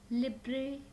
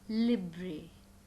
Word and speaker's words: Libre: again repeating more on liberal office writer many times we pronounce it as liber office writer lipper is the wrong pronunciation correct pronunciation is libre it's libre office writer